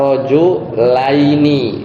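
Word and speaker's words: رجلين: Tapi kalau di musanna itu jadinya rajulani versi 1 artinya dua lelaki, atau model yang kedua rojulaini ya. Jadi bacanya aini, sia sama nunnya itu.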